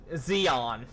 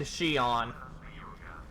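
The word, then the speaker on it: Xion: get on me for when I mispronounce names like Luxan and Zeon yes I know it's large scene and Xian I've been corrected oh crap yeah that's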